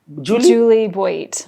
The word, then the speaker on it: Juli Boit: How do you pronounce it? Juli Boit.